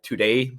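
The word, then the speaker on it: Tudeh: would like to see the today party it's spelled t-u-d-e-h party take over iran it's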